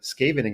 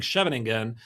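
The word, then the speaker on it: Scheveningen: on your very great pronunciation of scavening again. I believe the Netherlands just called and they're offering you citizenship. That was that was great. Let me just say it again. Scavening and you know how can I pronounce it so well, Mike? Because I was literally practicing it and and when I was saying in an oldfashioned way, I was saying cheving, some Dutch chess players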